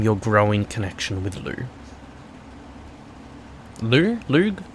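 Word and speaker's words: Lugh: Lug? How do you say his name? Lou. It's Lou.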